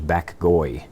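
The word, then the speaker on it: Bac Gaui: He doesn't like the title, and maybe he wanted to clarify that, because his nickname within the Asian community was Bak Goi, and that's spelled B-A-C and G-A-U-I.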